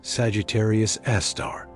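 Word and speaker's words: Sagittarius A*: It is called Sagittarius Asterisk, pronounced Sagittarius Aar.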